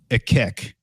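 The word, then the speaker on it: Akhekh: egyptian dragon was called a kick okay um for those curious it's spelled a-k-h-e-k-h it literally sounds like a kick all right it sounds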